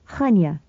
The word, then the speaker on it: Chania: "What did you do with yourself in Chania, if that's how you pronounce it? You don't say the CH like ours. It's a sort of breezed K, like in Locke. Chania."